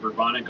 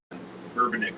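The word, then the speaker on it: Bourbonic: be bourbon and so everybody's been calling it burbonic up until now but a little bit of uh four on the clock morning research this morning bourbonnick seemed to be like the actual proper pronunciation but we might on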